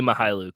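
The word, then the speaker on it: Mykhailiuk: Mihailuk. It's not as bad as it looks. Mihailuk. Just say Svi Mihailuk. That's how you say it.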